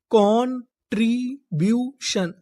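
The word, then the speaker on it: contribution: CON, अगर आपको English में कहीं पर CON लिखा मिले तो हम लोग CON को पढ़ते हैं कॉन। क्या पढ़ते हैं? कॉन। TRI tree, कॉन्ट्री। BU, इसे हम लोग यहां पर पढ़ेंगे ब्यू।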